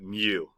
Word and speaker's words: mu: letter mu all right um mu we would pronounce it mu okay and that's what that represents anytime we